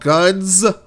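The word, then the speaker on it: Gunz: playing a game called guns notice I put the Z the z sound at the end of it because it's spell G and Z guns second duel PC exclusive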